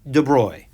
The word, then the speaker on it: de Broglie: it's actually just louis de bruy that's how you say the gentleman's name and dr de broy